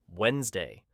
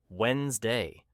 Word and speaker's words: Wednesday: And even advanced learners sometimes say Wednesday, pronouncing the D, but natives say Wednesday.